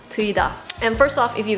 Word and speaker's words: TEUIDA: I think in Korean pronunciation it would be TEUIDA.